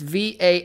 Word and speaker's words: Valonqar: So it's this word, and I don't know how to pronounce it. I've never known. I think it's like Valonqar or something. It's Valonqar.